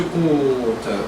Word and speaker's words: compte: So look at that vowel as open as you can. Compte. Say it. Compte. Okay, can you put the k in front of the tongue?